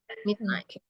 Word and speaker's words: midnight: agak bingung kayaknya ya cara membaca misalnya m jadi DII mid itu gnya silasak dia jadi cara bacanya jadi coba dibaca midn ya Midnight Terus kalau ini e